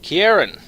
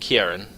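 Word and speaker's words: Ciarán: everyone is Lord's blade Kieran or Sierra and I think it's pronounced Kieran it's a it's a Gaelic name so it should be like a hard k sound for the c um she is very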